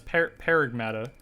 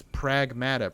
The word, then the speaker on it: Pragmata: I think it's pronounced. Pragmata. It's not Pragmata. It's Paragmata. Pragmata. Paragmata. It's Pragmata.